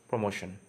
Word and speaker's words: promotion: So the actual pronunciation of the word is promotion. Yes, promotion, but the people pronounce the word as promotion. Yes, it is not promotion, it is promotion. Okay, so this is the right pronunciation.